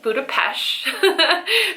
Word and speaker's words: Budapest: trip for Budapest um it's actually Budapest that's how they pronounce it I have been there